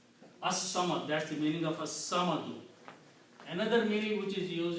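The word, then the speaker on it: الصمد: it becomes al samadu, but swad is a shamsi letter, so its sound will change into, lam sound will change into swad, so it will be pronounced as as-samadu. So this is the grammar.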